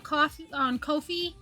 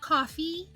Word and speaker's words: Ko-fi: $3 or more on Ko-fi. Somebody told me that the devs of Ko-fi pronounce it Ko-fi, not Ko-fi, not coffee.